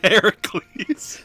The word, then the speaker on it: Heracles: kid wish you was here to see this Heracles that's how you're supposed to pronounce it oh yeah Hercules he's a hero